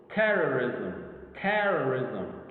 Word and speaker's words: terrorism: Terrorism. See how the te sound, or the first syllable is prominent over the rest.